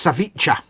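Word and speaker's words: ceviche: we go uh Edward Leonard confirms it's pronounced saviche so look that one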